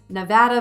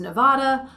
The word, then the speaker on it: Nevada: So there are regional differences and regional preferences, whether it's Nevada versus Nevada, Louisville versus Louisville, or New Orleans versus New Orleans. When in doubt, do as the locals do.